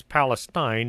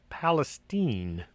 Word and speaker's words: Palestine: have a palestine texas don't mispronounce it as palestine it's palestine i don't know how the